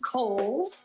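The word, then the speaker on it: Cowles: much it is pronounced kohl's uh george cole was a an early land owner developer out in the east county area so holes mountain like the department store and back by popular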